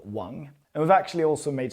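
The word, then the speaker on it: 王: Now you've definitely met someone called Wong. You might not thought about it because their names might have been Wong instead. That is if they're from the south, say Hong Kong or just Canton in general. If they're Cantonese simply, then it would be Wong.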